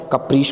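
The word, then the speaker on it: capricious: अगले वर्ड की तरफ चलते हैं, अगला वर्ड है आपका कप्रीश वर्ड बहुत अच्छा है, कप्रीश को आप ध्यान से देखिएगा, उच्चारण ध्यान रखिए इसका, कप्रीश होगा।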